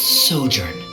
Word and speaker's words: sojourn: well is everything clear how do you pronounce this word let me see Ah that's sojourn it means to stay for a while this